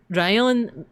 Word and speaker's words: Rion: Rion can mean thunder, but it's also how you pronounce lion in Japanese. So instead of lion, Rion, right?